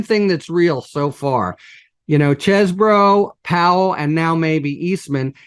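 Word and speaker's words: Chesebro: While the defense attorneys, right, for, Chesbro or Cheesebro, however the fuck you pronounce his name. Chesbro, by the way, I'm here to tell you. Chesbro. It is Chesbro.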